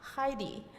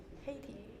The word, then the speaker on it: Haiti: this touching story of a immigrant Cadet from Heidi Heidi how do you say it Heidi Heidi Haiti Haiti yeah um who graduated one of the